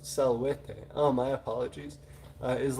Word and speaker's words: salvete: now um novus says salvete pronounced salwete oh my apologies uh